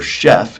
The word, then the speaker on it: chef: Remember, chef, even though it's spelled ch, it has a shh sound. Chef, it's like Chicago.